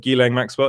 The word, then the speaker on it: Ghislaine Maxwell: Now, that's how I pronounce her name. A lot of people pronounce it differently, but I'm pretty sure you guys have heard of Ghislaine Maxwell.